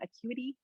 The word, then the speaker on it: Acuity: to use calendly as well there's another one acuity yes that's how you say it i think